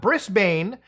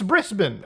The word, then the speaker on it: Brisbane: gladly reminded me that it's not Brisbane, it's Brisbane.